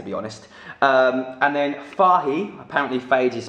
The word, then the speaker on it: Fage: a day to be honest um and then fahi apparently Fage is how you spell it total yogurt again get the full fat